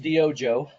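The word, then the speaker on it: DYOJO: did you come up with that so it's pronounced dojo um it's guatemalan okay that's my heritage no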